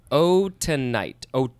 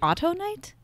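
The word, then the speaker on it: autunite: It could also be auto night? No, because it's not A-U-T-O. It's A-U-T-U-N-I-T-E. Tonight. Tonight. Or oh, tonight.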